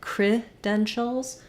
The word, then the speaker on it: credentials: schwaba like craft dentals it's just important that that first syllable is reduced and short and then my length and stress falls on the den syllable letter e says F like red or like dentist credentials here the letters t i don't say it and an if sound but rather an sh sound and then my Al